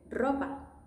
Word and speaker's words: ropa: Ropa. Easy, right? R is in the beginning, so it's going to be a strong sound.